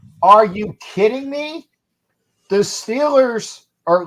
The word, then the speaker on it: Steelers: you kidding me the Steelers or let me excuse me they say correctly the stellers because that's how they pronounce it in that portion of Pennsylvania the stellars will get